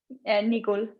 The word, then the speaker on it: Nigul: Bettin, Nigul, is that how you say it? Nigul.